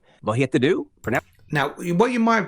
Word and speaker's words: vad heter du: Pronounced vad heter du.